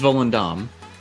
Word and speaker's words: Volendam: about uh volendam and are we saying it right is it vol and damn it's it is volundam poland yeah it's like